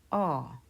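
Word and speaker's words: ㅏ: It is pronounced ah.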